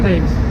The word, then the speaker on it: Thames: Do you know how to, is it Thames? How you say it? Thames. Thames, okay, cool, thanks.